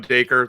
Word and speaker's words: Dacre: So I'm Dacre, toy maker. That's how it rhymes.